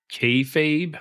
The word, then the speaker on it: kayfabe: not familiar with um called kayfabe I'm not sure if I'm saying that right y you're saying it right uh so so explain